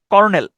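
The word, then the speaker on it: colonel: উচ্চারণটা হচ্ছে lieutenant কর্নেল কর্নেল উচ্চারণটা হচ্ছে কর্নেল কিন্তু আপনি যদি স্পেলিংটা দেখেন সেক্ষেত্রে হচ্ছে সি ও এল ও এনই এল উচ্চারণটা হয় হচ্ছে কলোনেল আপনি পড়ার সময় যদি বানানটা ভালোভাবে মনে রাখতে চান সেক্ষেত্রে পড়ার সময় আপনি কলোনেল উচ্চারণ করবেন কলোনেল যেভাবে আছে ওভাবে উচ্চারণ করবেন হ্যা মানে আপনি মনে মনে এভাবে উচ্চারণ করবেন কেন মনে রাখার জন্য যে সি ও এল ও এনই এল কলোনেল এরপরে রাখেন যে ময়মনসিং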